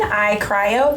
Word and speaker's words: iCryo: here we are we are at Lake Jackson I cryo am I saying it right yes okay correct